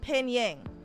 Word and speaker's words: Pinyin: It's like Pinying, or in English it would be pronounced Pinyin. It's basically the romanization of or is it Yin? I thought there was a G at the end, but Pinyin, yeah.